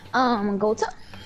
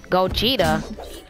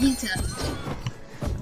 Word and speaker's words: Gogeta: I'm here with my boy, Gota 808. It's actually Gogeta, but okay. I call you Gota, and that's what you go by. It's pronounced Gogeta, but it's the PS4. It's pronounced Gogeta.